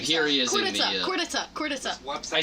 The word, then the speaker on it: Khortytsa: Khortytsa. You gotta have more Khortytsa. Khortytsa. Khortytsa. Khortytsa. Yeah. Khortytsa. So it's like there's like a D instead of a T when you pronounce it.